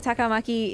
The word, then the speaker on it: Takamaki: like a little bit but it's not like English where you always have like one stressed syllable and that's it you know don't leave me like takamaki is just it's all fairly flat across the entire name Jade hello how